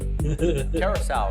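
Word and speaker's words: Curaçao: How do you pronounce the word? Curacao.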